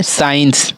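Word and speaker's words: science: एस के बाद देखिए सी आया, इसी कारण से हमारा सी साइलेंट है। और इसमें साइंस, साइंस में सी हमारे हमेशा साइलेंट होता है, साइंस।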